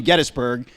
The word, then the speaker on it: Gettysburg: there are times when his name is spelled G E D S. So yes, so if you needed any further evidence besides Tim's good word that you should be saying Gettysburg, there it is in documentation for you